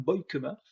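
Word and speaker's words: Beukema: en plus c'est Sam boykema j'ai appris sa prononciation sur le Podcast cchpp c'est bien boy KEMA défenseur de de Bologne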